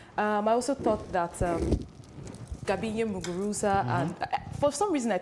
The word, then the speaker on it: Muguruza: I think I'll pick Muguruza or Muguruza, the way the Spaniards pronounce it.